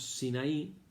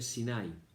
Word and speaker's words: Sinaí: al desierto del sinaí en castellano decimos sinaí y en hebreo se dice sin ay no tiene el acento en la y y acamparon frente en